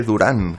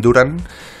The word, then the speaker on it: Durant: avise al narrador que se dice Durant, Kevin Durant. Y es curioso porque en la segunda parte el narrador Lalo Alzueta pues empezó a decir Kevin Durant. Y lo de Kevin Durant con ese acento en la U pues cayó en el olvido.